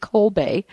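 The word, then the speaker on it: Kolbe: up his history um the last name is spelled k o lbe co Bay and um he was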